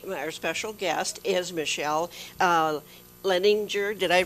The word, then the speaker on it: Leininger: I'm Elaine Conyers, and today our special guest is Michele Leininger. Did I pronounce that right? Leininger. Leininger.